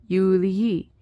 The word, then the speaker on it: Julii: Filius est, this is referring to Marcus being the son of Julii. Now, Julii has a long I because Julii is now in the genitive.